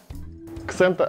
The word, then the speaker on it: XENTA: Ксента абсента – именно так произносится по-итальянски название данного бренда.